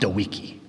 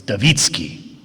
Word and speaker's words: Dawicki: It is not Dewiki." I said, well, in the United States, we anglicize every name, and so we pronounce it Dewiki. "No, it's Dawicki. Say it."